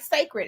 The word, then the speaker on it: Cécred: pronounced twig so twig just spelled different just like sacred is uh interestingly enough she wrote the first image is the newly launched sacred the Hair Care brand